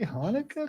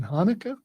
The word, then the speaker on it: Hanukkah: Is there a K in Hanukkah? Because it sounded like she said Hanukkah. There will be people. It starts technically with a CH, and so some people